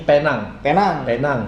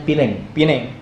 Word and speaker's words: Penang: Kalau kita bacanya ini Penang. Tapi orang Inggris itu dibacanya Pineng.